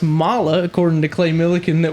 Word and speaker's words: Mahle: been saying it wrong for years apparently it's pronounced Mala according to clay milikin that we saw today instead of Molly like we have as far as I know